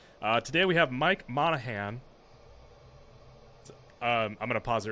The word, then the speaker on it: Monaghan: ask that's okay it's Monahan it does I I've heard worse monahani's good well how do you actually pronounce it Monahan okay Monahan G silent yeah okay so I